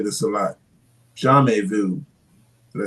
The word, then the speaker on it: jamais vu: Jamais vu. Did I say it right? Jamais vu, yeah.